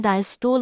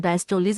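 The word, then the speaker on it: diastole: उसमें डायस्टोल होता है। डायस्टोलीस इसको कहते हैं। डिफरेंट प्रोनाउंसिएशंस है और सिस्टोल होता है या सिस्टली।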